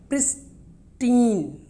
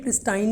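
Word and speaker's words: pristine: Next, प्रिस्टीन, इसकी pronunciation प्रिस्टाइन नहीं है, प्रिस्टीन, इसको क्या बोलना है, प्रिस्टीन, पुराना।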